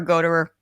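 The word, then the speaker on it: Gottehrer: produced by richard goddard if i'm pronouncing it right it's a goddard or go to her whichever way it is sounds great either way i like yours i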